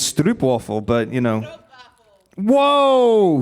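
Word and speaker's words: stroopwafel: can I just check did you pronounce it strobe waffles don't worry about it cuz I I don't know I have some friends in the west and they tell me it's strop waffle but you know waffle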